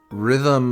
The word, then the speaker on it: rhythm: Rhythm, you don't pronounce the first H.